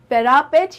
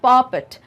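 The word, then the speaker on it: parapet: We would climb a bench, या तो हम किसी बेंच पर चढ़ जाते थे या फिर पैरापेट या पापेट, ये दोनों ही प्रोनाउंसिएशंस बिल्कुल सही हैं।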